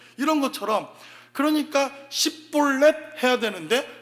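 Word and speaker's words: Shibboleth: 발음 잘 못하지 않습니까? 예, 이런 것처럼 그러니까 십볼렛 해야 되는데 샷볼렛 하니까 그냥 다 죽은 겁니다.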